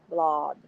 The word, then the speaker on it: Blod: The man produced Guy as G with a hard G, the French way, and blood to rhyme with cod, blod, G-blod, as if Scandinavian.